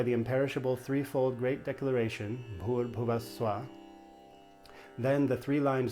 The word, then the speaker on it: Bhur: So with Bhur, anytime there's a consonant with an H after it, you pronounce it with a little puff of air. Bh, Bhur Bhuva Swa. Bhur Bhuva Swa. And the U in Bhur is a long U, and then in Bhuva, it's a short U.